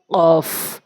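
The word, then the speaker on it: ك: না কুল বলতে হবে এরপরে কাফ কাফটা হচ্ছে জিহ্বার গোড়া হতে একটু আগে বাড়াইয়া উপরের তালুর সঙ্গে কাফ কাফটা হচ্ছে জিহ্বার গোড়া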